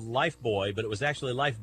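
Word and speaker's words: Lifebuoy: didn't they kevin well we called it life boy but it was actually spelled like life buoy wasn't it um i i think i think you're right about that as i recall that it wasn't spelled b-o-y that's right i know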